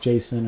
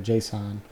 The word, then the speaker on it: JSON: So JSON lends well, and you might hear it pronounced Jason or JSON, but I don't really have an opinion either way, but I think you just may hear it differently from different people.